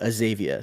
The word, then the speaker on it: Azavea: And ended up at Azavea. So many many people pronounce it the way that you Azavea.